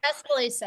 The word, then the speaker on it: Tuscaloosa: Tuscaloosa.